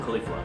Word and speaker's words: Caulifla: Caulifla.